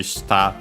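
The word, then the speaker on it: 舌: Other ones accented usually on the last syllable. Comes to mind, for example, we should have studied already even its kanji shita for tongue. Yeah. By the way, contrasting with shita unaccented for down, bottom, and so on.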